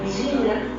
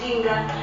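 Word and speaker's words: Njinga: Era un pueblo dirigido por una reina, una famosa reina con cuyo nombre era Jinga. Eh, se se escribe Nj i N G A.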